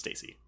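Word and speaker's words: Stasey: Stacy or Stacy she's I was gonna say it's only one s so it's Stacy okay Stacy whatever I'll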